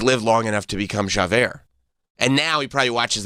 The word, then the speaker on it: Javert: It's like Javert. Javert.